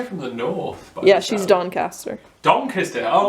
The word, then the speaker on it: Doncaster: Doncaster." Doncaster. Doncaster. Yeah. You've got to say it like you're a peasant.